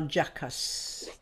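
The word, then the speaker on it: Calgacus: Karl Gackus. Can you spell it? C-A-L-G-A-C-U-S. Could also be pronounced Karl Jackas.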